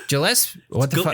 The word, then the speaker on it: Gillespie: Gillespie. What the fuck? It's a hard G.